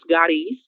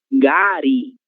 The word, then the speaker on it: gari: Se diz gari, gari, certo? A sílaba tô querer OK.